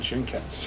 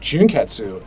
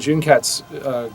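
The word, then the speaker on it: 純潔: U like senketsu and junketsu, and that is apparently not the correct pronunciation. The U is a very silent U, and so that's one of those challenges where we talked about it.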